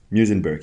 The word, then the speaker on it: Muizenberg: African Institute for Mathematical Sciences, which is in Muizenberg, if I pronounced that correctly. Muizenberg, yeah.